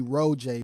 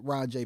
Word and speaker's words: ROJAY: it's because people kept people always call me Ro Jay because they say that's how it looks so it's capital r o capital j a y which is pronounced rajay because of the capital J but I don't want